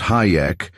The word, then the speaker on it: Hajek: Fred Hajek too, pronounced Hayek and referred to flippantly among the student nurses as Hijack.